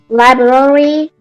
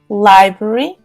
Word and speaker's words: library: In my city, there are supermarket, school, library, Library. First syllable is stressful.